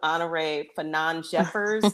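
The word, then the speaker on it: Honorée Fanonne Jeffers: Mentioning, I took note of Honore Fanon Jeffers. Did I Yeah.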